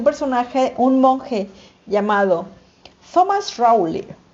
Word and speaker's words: Rowley: un monje llamado Thomas rowley ahora la pronunciación en británico Thomas rowy y este y entonces